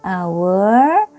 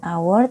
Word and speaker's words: hour: Contohnya, an hour, an honor. Jadi ini hurufnya H, an hour, tapi pengucapannya pakai huruf vokal.